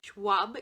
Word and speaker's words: Schwab: dark duet by Victoria Schwab swab because I mispronounced it last time okay and then I